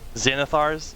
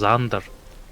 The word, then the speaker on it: Xanathar: I always thought it was Xander. No? Xander, guide to everything. I'm pretty sure it's supposed to be Xanathars because there's a second A in there.